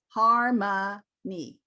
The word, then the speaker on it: harmony: so this is where i would have my clients write out you h h a r m u h n y harmony because then you break